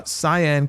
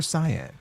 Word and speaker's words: Saiyan: Retro KOH uh says you actually pronounced uh Saiyan correctly. The Japanese name is Saiyan-jin based on the Japanese word for vegetable. Hm. I thought that's what Vegeta was. The Western dub mispronounced it as Saiyan.